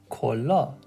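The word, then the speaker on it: کلاه: So whenever you look at this, if we split it into the two syllables, we know that this is ko and la. So if we put this together, kola, which means hat.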